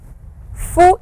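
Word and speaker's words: ふ: who hey ho now you will notice this sound is somewhat who and somewhat Foo so whichever is easy the actual sound is who as you blow air out but you can also say Foo if it is very very inconvenient like well I'd like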